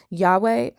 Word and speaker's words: Yahweh: Now, the Russellites were aware that the correct pronunciation for the Tetragrammaton was Yahweh, but they still went by their own logic and called the Most High Jehovah.